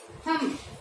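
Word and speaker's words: thumb: थम, ये थंब नहीं होता, ये होता है थम। थम क्या होता है, थम। है का क्या, ये थम। बी है वो साइलेंट होता है, यहाँ पे एम बी जहाँ पे भी आएगा वहाँ बी है वो साइलेंट रहता है, ये होता है थम। थंब नहीं होता, थम होता है, इसको बै हम प्रोनाउंस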